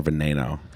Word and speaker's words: Veneno: veneno in the collection did you say venino or veneno it's veneno how do you say shiron